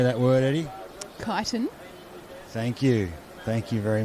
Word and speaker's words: Kyneton: Kyneton.